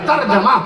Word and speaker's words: ترجمہ: ایسی ترجمہ نہیں, ترجمہ نہ کہا کیجئے, ترجمہ جیم پہ زبر لگائیے, ترجمہ.